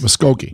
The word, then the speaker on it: Muskogee: How are we pronouncing this? Muskogee. Muskogee. Yeah. As for the pronunciation of Muskogee, an old country song by Merle Haggard should clear that up.